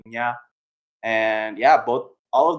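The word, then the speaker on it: Nghi: one the one with we've had issues like trying to pronounce and n g h i ax uh pronunciation is going to be Nia and yeah both all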